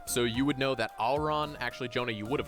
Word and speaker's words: Aureon: Auron? Yeah. It's I'll spell it for you.